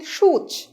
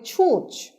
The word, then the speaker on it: সূচ: বলা উচিত সূচ, আমরা বলি ছুঁচ।